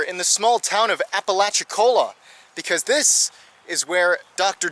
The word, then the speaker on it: Apalachicola: I had trouble pronouncing it. I had to look that up online just to get the proper pronunciation. Apalachicola, or as some locals call it, Appalach.